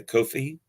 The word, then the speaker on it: Ko-fi: a a c a Kofi coffee I'm never sure how to pronounce it ko-fi that uh you can